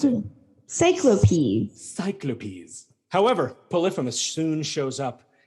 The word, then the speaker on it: Cyclopes: That's how you pronounce it. Cyclopes.